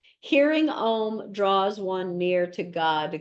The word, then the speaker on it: Om: In Sanskrit, the sound O is a diphthong, a subtle sound that begins with one vowel and changes to another vowel within the same syllable. Thus, O sound begins with ah, as in law, and ends with the U sound as in put. Oh, it is why it is often written as A-U-M.